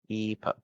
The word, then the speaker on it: Epo: Am I pronouncing it correctly, or you want it to be? Well, it's. I guess that is the only way to pronounce it, right? Epo or Epa. Epo. Okay, nice.